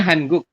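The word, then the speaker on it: 한국: Tulisannya Hangguk. Tapi kita bacanya Hangguk.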